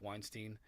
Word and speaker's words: Weinstein: down and watched that 4our show with Eric Weinstein um that's how you pronounce his name and uh and uh oh